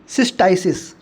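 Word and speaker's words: cystitis: 62 देखो आप, 62 में ये एक इन्फेक्शन है, सिस्टाइसिस, ठीक है, यही प्रोनाउंसिएशन होगा।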